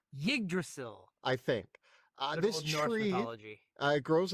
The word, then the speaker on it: Yggdrasil: Yggdrasil. Yggdrasil. I think. This tree grows among the... The way I've learned Norse is just never pronounce the Y.